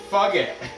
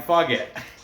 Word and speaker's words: Fugitt: Taking on Adam Fugitt. I'm sorry, Adam Fugitt. I'm pretty sure it's how you say it. Maybe it is pronounced Fugitt. Fugitt.